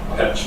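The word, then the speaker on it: Perchet: Uh Perche. How do you spell that?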